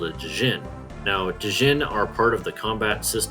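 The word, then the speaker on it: Djinn: I have it on good authority that it's pronounced Jin not dein or diini as it was so often called around the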